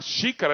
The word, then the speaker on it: xícara: agora nem sempre na xícara eu não falo que sim cara eu falo xícara eu não tenho dífono